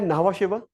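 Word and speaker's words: Nhava Sheva: अगला है नावा शेवा। नावा शिवा की spelling is NHAVA, नावा space शिवा इज SHEVA।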